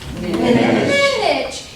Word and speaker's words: Minich: And to make you remember it forever and ever, you're going to remember Miss Minich rhymes with That's right. So next time you see Miss Minich, oh, Miss Minich? Spinach.